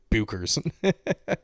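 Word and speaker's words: Bueckers: versus uh Paige Beckers I guess it's pronounced Beckers and not Bookers I am going to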